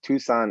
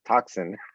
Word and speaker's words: Tucson: from outside of tucson they oftentimes pronounce tucson as toxin it's not good for